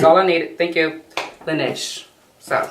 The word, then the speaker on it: Laneige: It looks like it might be pronounced Laneige. Laneige. I'm gonna look it up because I like to be correct when I'm talking about a brand. L-A-N. E-I-G-E. Laneige. Laneige. Laneige. That's how they're saying it.